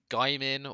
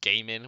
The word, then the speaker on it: Gaimin: Gaimin, or as the caster said, Gamin, which really annoyed me because that makes no sense in the English pronunciation, and they're crypto bros,